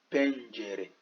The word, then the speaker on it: pencere: Le E à la fin, ça se lit. Pencere, qui veut dire fenêtre.